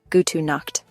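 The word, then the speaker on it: Gute Nacht: Pronunciation gut knocked.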